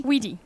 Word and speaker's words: Witty: So, so tell me about how do you pronounce the company? Witty? Witty, absolutely. Witty.